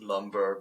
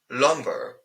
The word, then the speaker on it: Lumbur: Lumbur, spelled with 2 U's instead of an E and a U, is not, by the typical means, the way of pronouncing the nice wooden planks produced from the surrounding forest. The name is believed to have sourced from an old lizard folk dialect, giving the second syllable a more enunciated sound.